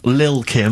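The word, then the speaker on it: Lil' Kim: I'm pronouncing that correctly. Lil Kim.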